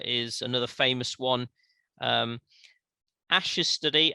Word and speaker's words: Asch: another famous one um ash's study ash is spelled asch ash ash's study into conformity